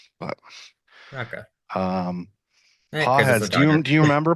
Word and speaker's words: Pages: I think it's pronounced Páez. I think it's a silent G. Um if the announcers who have called games for the Dodgers have it right, but Okay. Um Páez, do you Do you remember Páez from the playoffs?